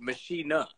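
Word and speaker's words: Maschine: Machiner? How do you say it? Machiner, because it's a German company. Yeah. So the way you say machine is actually machiner.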